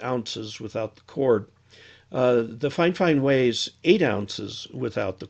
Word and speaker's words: Fifine: in at 14.6 ounces without the cord the fine fine weighs eight ounces without the cord so it's